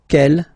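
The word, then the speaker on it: quel: for the phonetics okay the way to pronounce them ke masculine form here will be pronounced exactly as the feminine form here ke so only one sound okay and then the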